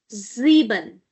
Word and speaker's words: sieben: see number seven then number seven is sieben. sieben because again after s we have a vowel and because of this vowel the sound of s is going to be z sound sieben.